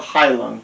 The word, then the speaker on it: Heilung: They're called Heilung, and I could be mispronouncing that, but it's Heilung.